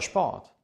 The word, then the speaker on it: Sport: in Stuttgart groß geworden S&P zusammen ist analog mit S und T zusammen es wird ausgesprochen es und P zusammen wird wie ein schp ausgesprochen zum Beispiel der Sport oder Spanien spanien ist